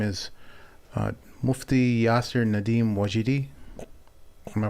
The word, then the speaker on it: Wajidi: One of the individuals, his name is Mufti Yasir Nadim Wajidi. Am I pronouncing that right, Shaykh? Yeah. Wajdi.